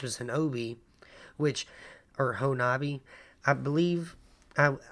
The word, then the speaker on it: Honobia: The locals pronounce it Honobia. Honobia?